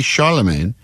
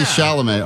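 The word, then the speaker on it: Chalamet: Thousands of users who resemble everyone from Sydney Sweeney to Timothy Charlemagne.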